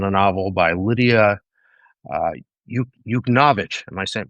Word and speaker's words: Yuknavitch: It's based on a novel by Lidia uh, Yuknavitch. Am I pronouncing that correctly? Yeah, Lidia Yuknavitch.